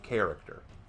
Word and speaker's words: character: you say the word character what's the first syllable care that is the first syllable in the word character care you have to care